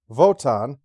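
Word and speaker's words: Wotan: it right the computer voton although spelled with a w because the scientists use a v sound in reference to the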